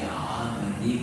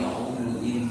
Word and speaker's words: عمد: Kalau kita bacanya fi amadin mumaddadah, agak sulit ya. Tapi kalau Syu'bah fi umudin mumaddadah, karena sebelumnya ada kasroh, jadi fi agak mudah ya, fi umudin mumaddadah.